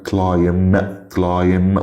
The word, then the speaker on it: climb: عندنا climb وطبعا الفعل يتسلق. البي هنا سايلنت لأن البي لو جاي قبلها ام فبننطقش البي فآخرنا الام.